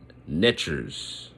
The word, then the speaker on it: netcher: So they had these forces that, you know, that they had there, and they called them netchers, and I'll spell that too. It's NTR, a netcher.